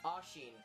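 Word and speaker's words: Oisín: Ashin. Ashin. Ashin. Ashin. People either pronounce it Ashin or Oshin.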